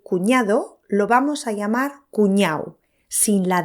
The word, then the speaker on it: cuñao: y como hemos acordado lo pronunciamos cuñao sin la d usamos Este término